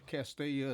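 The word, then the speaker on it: Castalia: Let me make sure I pronounce this right, 'cause I know the last time on a pre-call, Castilla.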